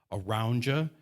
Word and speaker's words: Arounja: One is called Aroundja, but it's spelled oddly.